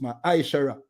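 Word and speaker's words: מעשר: verse 8 to 10 means tenth in the hebrew and is pronounced ma shara 10 of every penny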